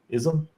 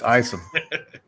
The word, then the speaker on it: Isom: Ism? Isom? It's just it's ism. Ism? Ism. I'm gonna go with ism. That isn't right. It's Isom. Do we have what do we have?